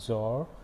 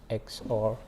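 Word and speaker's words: XOR: the next part nand there is no and x or it's not zor it's x or that be the way to pronounce it mean that's the way i would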